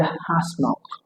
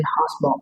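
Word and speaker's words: asthma: Christian, mortgage, chestnut, and hasmalt. Both the letter T and letter H in hasmalt are silent. Some Northern Americans tend to pronounce this word as hasma, substituting the sounds for z, hasma.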